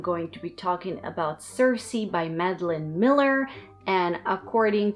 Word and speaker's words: Circe: review today i'm going to be talking about cersei by madeleine miller and according to what i checked this is how you pronounce the title so this book came out